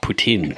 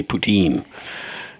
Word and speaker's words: poutine: notes and Kyla pronounced Putin correct ly as there these folks are fellow Canadians I happen to be a lazy fellow Canadian who just pronounce it the English way poutine and that brings us